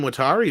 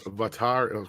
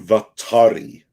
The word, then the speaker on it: Watari: then we got jim watari who says andre needs to say my name as vatar go ahead um jim vattari uh dash attack says